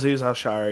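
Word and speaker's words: Al-Shaair: I mean, we see Pete and I can't pronounce that guy's name. Aliz Shaher or whatever his name is. Alzhar.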